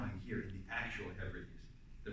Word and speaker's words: Hebrides: he was going to a place called the Hebrides, pronounced obviously like He-Man.